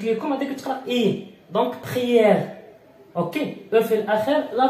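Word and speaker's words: prière: او في الاخير لا تنطق، اوكي. بخيير دونك عندما اجد او في اخر الكلمه اقف على الحرف ما قبل او، دونك ار بخيير هذه ثاني تنطق اي، بخيير، اوكي.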